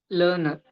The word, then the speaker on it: learner: Learner. Learner. Learner. Learner. It's not Learner. learner. The first R is silent.